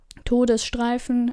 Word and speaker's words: Todesstreifen: to know that, but that would be pronounced Todesstreifen, but there is no word like Treifen or something, so yeah. Todesstreifen, and there is missing an S.